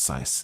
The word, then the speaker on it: scythe: scythe, A lot of silent letters. scythe, It's pronounced size.